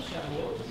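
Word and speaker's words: שבועות: Shavuot.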